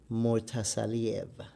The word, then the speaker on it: Murtazaliev: Bakhram Murtazaliev. Yes. Mr. Bakhram Murtazaliev showed out tonight.